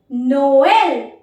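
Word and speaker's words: Noël: that we have is नोएल when you place this accent generally you pronounce to to alphabets together so it because नोएल नोएल नोएल means Christmas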